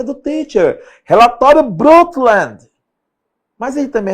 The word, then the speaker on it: Brundtland: O relatório Brundtland, Olha a pronúncia do teacher. Relatório Brundtland.